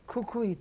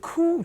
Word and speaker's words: Kukui: The name of it should be Kukui Tree. Oh. But they wasn't able to pronounce the word kukui tree at the time, so they called it Ku Tree.